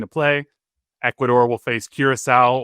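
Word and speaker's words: Curaçao: Ecuador will face Curisowl or as Wayne Gretzky pronounces it, Kuraka uh on Saturday, June 20th.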